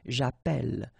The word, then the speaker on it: appelle: in the previous video, if you have, you know, double L like that, it will affect the pronunciation of the so actually it will open the sound, and that's the reason why you will get the sound est, okay? J'appelle, j'appelle, all right?